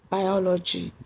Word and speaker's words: biology: Then the stress in biology is on O. That's after the O after the L.